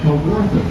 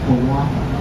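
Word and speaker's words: Kawartha: in right now is known as the Cowortha. It's a native word which used to be pronounced Kawaka. It meant shimmering or shining waters or happy homes by the native. The English added the R to the name to make it a little easier to say, but it still means the same thing.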